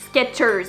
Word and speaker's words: Skechers: Parce que de toute façon, on le prononce Skechers. On entend comme le T.